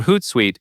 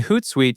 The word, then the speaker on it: Hootsuite: For Hootsuite, suite is pronounced like suite, not like the word suit.